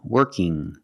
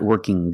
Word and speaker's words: working: young strong and working when you have iing at the end it makes a sound working not working G there's no G sound it's the sound working now sometimes when you see ing you hear working working that's also correct pration you can say working or working with the n Sound now what happens when